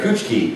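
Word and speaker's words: Kuchiki: name oh Rukia coochi it looks like coochi but we run it together switch it together coochi so Rukia coochi is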